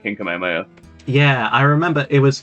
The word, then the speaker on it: Kamehameha: But do you know how he pronounces Kamehameha? How? Kamiyamama. Kamiyamama? Yeah. The weird thing is that it's pronounced Kamehameha.